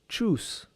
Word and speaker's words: chus: The mantram chus is very powerful to develop the solar plexus chakra. This mantram is pronounced like this.